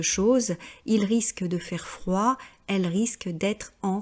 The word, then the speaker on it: froid: Et là aussi, j'ai beaucoup d'élèves qui prononcent la consonne finale, donc qui disent froide, retarde. Non, le français n'est pas l'anglais. En français, généralement, on ne prononce pas la dernière consonne.